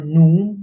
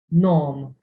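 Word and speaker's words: ngħum: It is written n ein u m. You don't say it now or noom. You say it nom.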